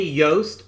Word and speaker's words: Yost: for him uh eddie yost thank you for the the commentary said it's pronounced like toast uh you're definitely in